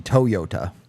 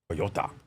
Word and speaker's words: Toyota: good uh fun fact if you're going to pronounce Toyota like a Japanese person it would be Toyota Toyota America likes to add eyes oh Nathan son and